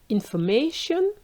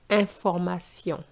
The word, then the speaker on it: information: fact is not so for example nature in English versus natur you can see the difference or information in English versus inform so you can see that the pronunciation is very different now what you need